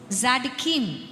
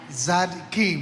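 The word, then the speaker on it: צדיקים: your people will be ஸாடிகீம் அப்படிங்கிற ஒரு வார்த்தை உங்களால ப்ரொனவுன்ஸ் பண்ண முடியுதா? ஸாடிகீம். டி வராது, டி வந்து சைலண்ட். சோ Z தான், Z சவுண்டா வரும். ஆமா, சொல்லுங்க. நம்ம ஜனங்க சொல்லிட்டோம். ஸாடிகீம்.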